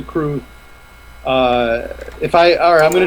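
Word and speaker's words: crwth: that's the fun part it's spelled see our w th it's a welsh ensure that that can't be right comes to us comes to us from wales CR WTH um i think it's pronounced the crew if I are I'm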